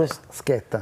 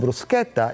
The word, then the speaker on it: bruschetta: Bruschetta. Bruschetta. No, bruschetta. Not bruschetta. Bruschetta. Okay. Don't say it wrong at home.